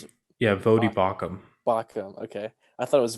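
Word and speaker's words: Baucham: I always Vodi, pronounce it yeah, Vodi Bach, Bakum. Bacham.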